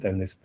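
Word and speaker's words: MNIST: We agreed that this acronym we will pronounce it amnest just random.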